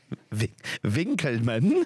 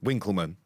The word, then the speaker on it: Winkleman: it with a v no you pronounce it with a W Winkleman no it's VLAN it